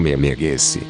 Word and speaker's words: Memegwesi: como Memegwesi, ou Maimaiguasi, cujo nome é pronunciado como Memeguese.